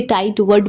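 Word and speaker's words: tightwad: या फिर टाइट वर्ड इसे टाइट वर्ड प्रोनाउंस करेंगे या फिर निगडले या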